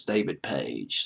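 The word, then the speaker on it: Paich: it was pronounced it's David page so i pronouncing this page i thought it was like patch or something like that but it's page i guess anyway david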